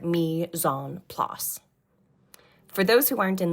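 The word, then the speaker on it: mise en place: dining in French it's Mison PL to get kind of close you say it like meon PL for those who aren't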